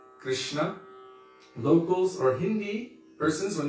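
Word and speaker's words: Kṛṣṇa: good i guess in they say that's the proper sanskritic pronunciation understanding from that part so instead of krishna we say krsna locals or hindi persons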